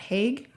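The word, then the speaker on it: Haig: you pronounce the authors his last name is heg it's Matt hag I think is how you pronounce it it was really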